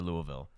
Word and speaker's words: Louisville: are produced in in louisville kentucky but you got to say louisville you can't say it you got to say it louisville it's basically two syllables but one's kind of hidden in there you know they they